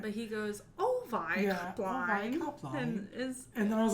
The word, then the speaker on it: Avi Kaplan: But he goes, Ovi Kaplan.